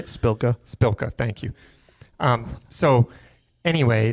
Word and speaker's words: Spilka: uh and um rep Mariano's office and Karen splonka's uh spelanka's how do you say spilka spilka thank you um so anyway the the bottom